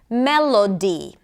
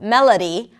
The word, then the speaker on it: melody: For example, melody and holiday and station instead of melody, holiday, and station all had the same sound, the schwa sound.